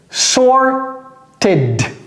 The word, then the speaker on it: sorted: Eh bien, la règle nous dit tout simplement que lorsque le verbe, l'infinitif se termine par t ou bien or, they, le verbe au passé simple se prononce id. Par exemple, trier, to sort, au passé simple, c'est sorted. Sorted.